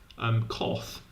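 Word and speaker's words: coth: And this one, which pretty pleasingly people do pronounce koth, but maybe people should pronounce chot.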